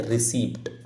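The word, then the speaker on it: receipt: हैं क्या बोलते हैं रिसीप्ट बट एक्चुअल प्रोनंसिएशन अगर आप देखोगे तो इसको रिसी भी कह देते हैं ठीक है क्या बोल देते रिसी यानी प यहां पर साइलेंट हो जाता है आपका तो यह रिसीप्ट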